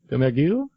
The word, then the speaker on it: Domergue: Domergue.